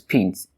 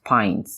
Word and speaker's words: pint: Now this word is often pronounced as pint. However, it is pint. It is pint. This time around, my rule of letter I in between 2 consonants is not working.